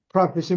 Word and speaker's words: prophet: prophet. 경제적인 이득, profit하고 발음은 똑같아요. 글자만 아, 다르고. 네. 근데 prophet이 뭐 하는 사람이냐?